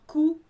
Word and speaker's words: coup: Alors, coup a un P muet également, donc loup également.